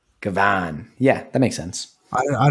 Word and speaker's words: gavone: so it's spelled g-a-v-o-n-e but it says pronunction wise it's it's j g a h space v o w n kavan yeah that makes sense I don't know if